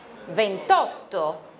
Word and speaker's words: ventotto: Ventotto。